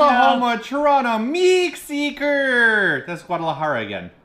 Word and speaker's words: Guadalajara: Guadalajara. You There don't you know go. Guadalajara? Did he say that right? Let us Yeah, know. it's Guadalajara.